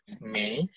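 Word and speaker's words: 美: Bacanya Mei.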